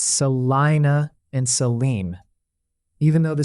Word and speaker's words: Salina: The common Kansas usage is Salina as Salina and Saline County as Salem.